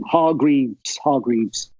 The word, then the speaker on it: Hargreaves: Hargreaves? Am I saying it right? Yeah. Okay. Yeah, Hargreaves.